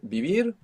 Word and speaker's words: vivir: saber so we have bibir to live we need to open up the association of the letter V to include that soft B maybe you look up